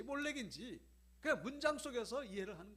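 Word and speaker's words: מֹלֶךְ: 요거는 에라고 읽고 위에 찍힌 거는 오라고 읽어요. 그래서 요거는 몰렉, 요거는 멜렉 이렇게 되는 겁니다.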